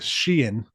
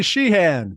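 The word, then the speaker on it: Sheehan: the show not too sheen on not too long ago I said his name wrong though I was like welcome to the show Billy shean he was like it's Sheen I was like a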